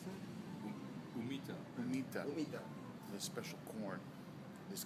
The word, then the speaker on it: humita: And Markus is going to have the humeta. Is that how we pronounce it? Humita.